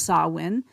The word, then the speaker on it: Samhain: But you know what it really comes from is the ancient Celtic celebration of sawin. Of course, it's spelled s a m h a i n pronounced sawin.